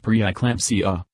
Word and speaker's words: preeclampsia: Gestational diabetes increases the risk of a baby that is too large, macrosomia, preeclampsia, pronounced preeclampsia, a condition marked by a sudden increase in